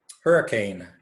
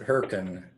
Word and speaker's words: Hurricane: in the southern Utah hurricane now those in Washington County know that that's not how you pronounce that they pronounce it hurricane but this name was